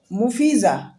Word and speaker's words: مفیضہ: ٹکڑا، بادل کا ٹکڑا۔ اس کے بعد ہے مفیزہ۔ مفیزہ نام یہ لڑکیوں کے لیے خاص ہے